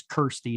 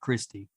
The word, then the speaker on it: Kirsty: Well, well, I'll tell you the first thing I think is according to the Hellraiser wiki, her name is Kirsty, not Christy.